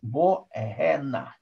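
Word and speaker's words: בוא הנה: Правильно говорить «бо эгэна».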